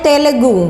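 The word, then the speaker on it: Telugu: south की है ये भी भाषा ये है तेलुगु तेलुगु टी ई एल ए जी यू यही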